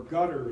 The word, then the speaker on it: Qatar: in the United States to Qatar, or Qatar, as my Arab clients tell me to pronounce it, to Qatar to be